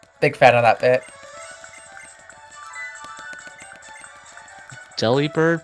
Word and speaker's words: Delibird: Delibird pronounced as delivered, except the bird is bird.